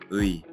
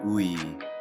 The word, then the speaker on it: 의: Mistake number 3, mispronouncing the tricky vowel, 의. Most learners say ui clearly and slowly. But in real Korean, it usually sounds like 에 or even just 이.